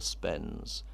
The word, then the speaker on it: Spens: it was his opinion the name was Spence, it was young Patrick Spence, but Spence, the hard C was hard to sing, and they'd soften it into Spens, as you could hold the note longer that way, and it was necessary,